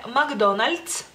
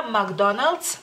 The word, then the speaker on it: McDonald's: Texas pero este en aquí en México se dice McDonald's McDonald's o sea la l de nuevo este suavecita Por así decirlo decirlo en el ituano de la l sería como más dura McDonald's McDonald's pero mucha gente